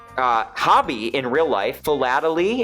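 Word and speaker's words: philately: Fatally is how it's said.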